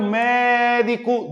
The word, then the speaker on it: médico: sílabas eu tenho três Olha o médico demora mais tempo aqui não é na última ou seria oxítona não é na penúltima se fosse seria paroxítona é na antepenúltima sílaba e tímido separando tímido